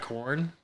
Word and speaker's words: Quorn: So like, You ever had corn? I have corn. I'm sorry. The it's spelled QUORN.